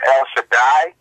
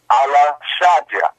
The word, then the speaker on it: El Shaddai: There is no such thing as El Shaddai. That's in fact pronounced Allah Shaddai.